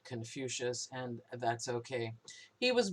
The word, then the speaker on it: Confucius: master kung but the the words were romanized or latinized and so we pronounce it Confucius and that's okay he